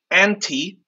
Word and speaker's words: ANTE: here at OSP and this code anti we spell it a-n-t-e I'm multilingual and one